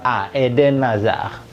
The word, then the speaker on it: Eden Hazard: Eden Hazard jadi NDC Eden Ini nyambung ke aeden Aza gitu cara baca yang tepat ya bukan kalau ide Nazar